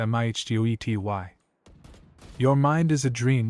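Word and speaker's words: mitote: Your whole mind is a fog which the Toltk called a mito pronounced mih ty.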